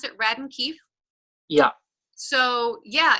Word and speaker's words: Radden Keefe: Is that how you pronounce it? Radden Keefe?